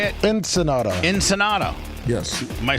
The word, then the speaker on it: Ensenada: Ensenada.